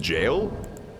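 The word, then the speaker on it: gaol: darkness that game rules is it really just pronounced jail that kind of adds up g-a-o-l creates a dark space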